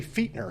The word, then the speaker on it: Fichtner: guest today uh Randy fiter is that fitner that's actually fitner it's very I've never say how say it again be like your feet Fe e t Feer okay Feer Jason's